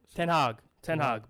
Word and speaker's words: Ten Hag: Ten Hag, bro.